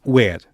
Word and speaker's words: ver: Dizia-se where e escrito, nós olhamos para a palavra e parece que é ver.